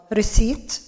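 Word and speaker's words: receipt: كيو اللي هو الطابور، ريسيت البي لا تلفظ ريسيت إيصال ريسيف يستلم ريفند استرداد ريتيرن المبلغ العائد ريتيرنز بوليسي سياسة الإرجاع سيرفيس خدمة وشوب أسيستنت مساعد المتجر.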